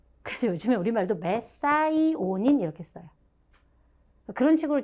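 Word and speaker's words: methionine: 그래서 어렸을 때 혹시 메티오닌이라고 하는 아미노산을 들어보셨다면 그 메티온의 영어식 발음이 메사이오닌이거든요. 그래서 요즘에 우리말도 메사이오닌 이렇게 써요.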